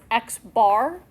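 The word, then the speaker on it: x̄: Both of these symbols here, the first one we pronounce X bar, and the second one is mu.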